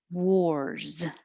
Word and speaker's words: war: now back to 26 wars this one is spelled with an a but it sounds like an o and you should round your lips a lot war wars wars i